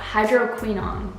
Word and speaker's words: hydroquinone: Hydroquinone.